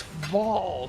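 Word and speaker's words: Vaal: It's Vol, sir. Proper pronunciation if you're going to play this game.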